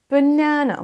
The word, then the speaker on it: banana: Vous entendez bien l'accentuation sur la deuxième syllabe. Banana. Banana. Passons à l'accent UK. Banana. Banana. Vous entendez, c'est un petit peu plus léger. Banana. Banana. Banana. Que vous choisissiez l'une ou l'autre des prononciations, il y a très peu de différence. Sachez que d'abord, vous prononcez un E, B, léger et pas accentué. Ensuite, c'est un A. On traîne un peu. Na. Et ensuite, on part sur un E.